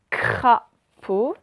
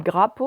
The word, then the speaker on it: crapaud: bon ensuite deuxième mot vous écrivez cra pour crapaud j'ai pas dis grapo ans et crapauds et à la fin de crapaud qui s'écrit avec un huard rappelez vous il ya